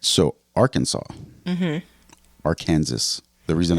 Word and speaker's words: Arkansas: no law that actually says it's prohibited from mispronouncing it but there the Arkansas code actually does Define how to pronounce Arkansas